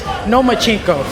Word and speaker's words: Lomachenko: I think you said his name wrong. It's Lomachenko, because he doesn't want to fight me.